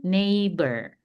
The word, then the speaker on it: neighbor: Smith are my new neighbor. Tadi ingat GH-nya di silent jadi ne cuma dibacanya ne-nya aja.